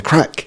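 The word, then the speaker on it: craic: So, it's an Irish word. So, spelled C O R O A I C pronounced crack as Andy has been pronouncing it.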